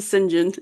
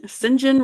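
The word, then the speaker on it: St John: Rivers Guy s s singen Rivers yeah they pronounce it singen singen Rivers so funny um and she's like I'm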